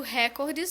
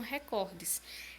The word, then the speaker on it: recordes: Aliás, eu falei a princípio recordes, mas eu acredito que a pronúncia correta seja mesmo recordes. Né? Na língua portuguesa, vamos dar mais entonação para a segunda sílaba da frase, recordes.